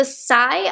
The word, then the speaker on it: Saie: This is the Saie, I believe is how you say it, S-A-I-E.